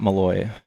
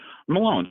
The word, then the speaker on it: Malone: Yeah, and it's from Robert Malone, not Malloy. So, that's probably why you're having problems Googling it. Malone. I did pronounce it incorrectly.